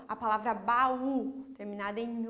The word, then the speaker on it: baú: A professora trouxe ali como exemplo para vocês a palavra baú, ó, eu aumento o tom de voz no U.